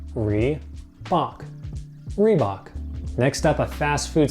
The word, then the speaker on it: Reebok: quite as big as Nike this one is pronounced Reebok three Bach Reebok next up a fast food staple here in